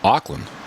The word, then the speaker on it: Auckland: Uh on on the way over you in uh Auckland, right?